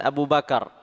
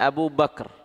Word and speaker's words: Abu Bakr: Sebagaimana kita mengenal Abu Bakar, atau dalam bahasa kita dikenal dengan Abu Bakar. Dalam bahasa Arab Abu Bakar, kafnya disukun sehingga bacanya Abu Bakar.